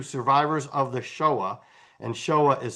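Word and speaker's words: Shoah: So, if you go to Survivors of the Showa, and Showa is spelled S H O A H, let me write that in here.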